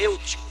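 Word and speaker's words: Êutico: O Eutico, como alguém pronuncia, mas é Eutico.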